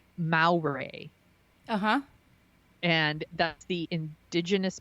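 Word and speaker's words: Māori: going to make sure I'm pronouncing this right, Maori. Uh-huh. And that's the indigenous people of New Zealand. So he's a Maori, trying to get it right, Maori.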